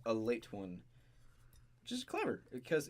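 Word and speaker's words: Ale-8-One: is this right so they call it a late one but the way it's spelled is the word ale the number eight and then a small little one written to the side all in one word so if you look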